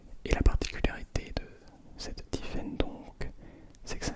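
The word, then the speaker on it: Typhaine: Et la particularité de cette Tiffen donc, c'est que ça s'écrit T-Y-P-H-A-I-N-E.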